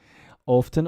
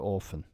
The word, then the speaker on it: often: if I do it it's okay often or often yeah but the tea does get dropped sometimes Wednesday difficult to pronounce